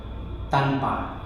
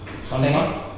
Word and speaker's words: tanpa: Tanpa. Tanpa. Can you? Tanpa?